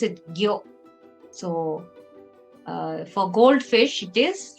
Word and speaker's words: 魚: And you pronounce it gyo.